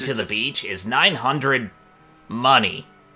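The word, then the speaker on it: munny: 3,600 Mooney. Mooney. 1,200 Mooney. A total of 4,800 Mooney. It's pronounced money, but yeah.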